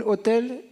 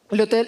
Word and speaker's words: autel: Mais Abraham, sa réponse est, ok, il a construit un hôtel en honneur à l'Éternel. Est-ce qu'on prononce hôtel? Comme l'hôtel de... Comme l'hôtel de ville, les Français, je ne comprends pas. l'autel en honneur de l'Éternel, qui lui était apparu.